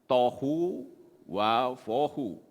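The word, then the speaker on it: תֹהוּ וָבֹהוּ: Nah, kata tidak berbentuk, ini membacanya adalah ini di sini nih ya, saudara lihat ya, tohu wa vohu.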